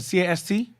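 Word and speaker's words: caste: was the worst ca as a cast yes sir c-a-s-t-e that's cast war the cast war that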